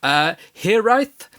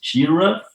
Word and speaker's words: Hiraeth: But anyway, your latest single, and I'm going to probably get the pronunciation completely wrong, Hiraeth, is out in just over a week, dropping November 6th.